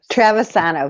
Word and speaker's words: Travisano: is from tac and it's trevis sono very close travisano very good andrea we're really happy